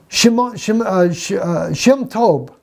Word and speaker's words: Shem Tob: My friends, I mean, Shem Tob, that's how we say his name, Shem Tob's Hebrew Matthew, right there, plain as day.